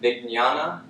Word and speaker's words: vijnana: Vijnanamaya kosha, when there's a J and an N in Sanskrit, it has sort of a G N sound, like vijnana, or like the N would have a tilde in Spanish. You pronounce that Vijnanamaya kosha.